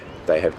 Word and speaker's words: have: living in Melbourne, and they have disappeared very, very dramatically. Because Jerry stressed the auxiliary verb have, the H sound is pronounced. He says, they have.